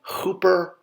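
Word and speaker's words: ḫpr: and are more common so pronouncing this it would be Hooper Hooper for the Scarab and R for the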